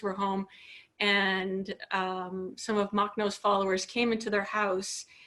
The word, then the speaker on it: Makhno: Do you know about Nestor Makhno? Pardon my pronunciation. Makhno, yeah.